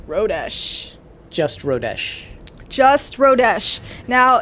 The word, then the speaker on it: Rodesh: uh the key word is just gonna be rodesh that's it rodesh if everybody knows how to spell that it's r o d e s h rodish just rodesh just rodesh now in order to